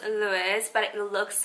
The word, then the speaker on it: LVIOE: unboxing slash review of this company it's called luis so it's pronounced luis but it looks like this i'm gonna put